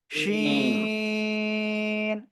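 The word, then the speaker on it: ش: শিন শাশা শব্দ হবে এরকম শাশা শব্দ হবে শিন সবাই একসাথে উচ্চারণ করেন শিন তিন আলিফ সবাই বলেন শিন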